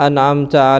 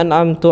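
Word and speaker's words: أنعمت: Siratal ladzina an'amta 'alaihim ghairil. Dibacanya siratal ladzina an'amtu 'alaihim. An'amtu. Aku kasih nikmat untuk kalian. Kan beda.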